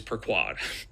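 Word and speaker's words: per quod: And I looked up how to pronounce that, and it is per quad. unless Google is wrong, it's per quad.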